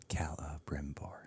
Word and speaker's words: Celebrimbor: Yes. It's 4 syllables. Yes. Celebrimbor.